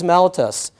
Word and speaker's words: mellitus: Diabetes mellitus, that's the official name, or mellitus. There's different ways of pronouncing it.